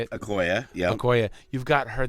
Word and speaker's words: Okoye: Okoye, yeah.